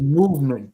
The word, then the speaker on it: MVMT: no garbage absolute garbage it's pronounced movement but it's like mvmt and they use chinese